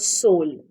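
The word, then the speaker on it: TSOL: started a brand called Soul it's pronounced as TS o l but it's the t is silent it's called soul and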